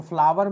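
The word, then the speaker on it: flower: तो फ्लावर में भी क्या होगा, आर साइलेंट हो जाएगा और ये आपका बनेगा फ्लावर। ठीक है, तो आप लोग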